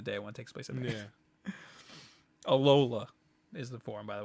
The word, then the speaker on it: Alola: place during the day one takes place yeah alola is the form by the way I think we kept saying Aloha which I'm gonna keep saying forever yeah apparently